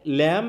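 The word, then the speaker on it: lamb: কেমন হবে বি স্যার বি উচ্চারণটা হবে না হ্যাঁ উচ্চারণ হবে কি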